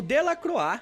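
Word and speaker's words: Delacroix: pesquisem como artistas como del croa que se escreve del croix e o Goya representam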